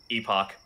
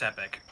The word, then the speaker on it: Epoch: ep och oh epic i'm probably saying it wrong it's epic it's epic okay sorry i'm getting chrono